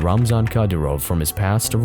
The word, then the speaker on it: Ramzan: Ramzan, yeah.